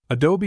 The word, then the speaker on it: adobe: adult Temple of monuma adobe is pronounced in three syllables Adobe and is the Mexican